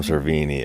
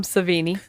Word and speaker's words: Savini: and uh good on them for giving Tom serini a uh I said his name wrong Tom savini Tom savini I pronounced I'm so sorry um